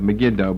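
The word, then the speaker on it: Megiddo: Armageddon the valley of megida or some people pronounce it the valley of magido but that's just the English pronunciation the valley of megido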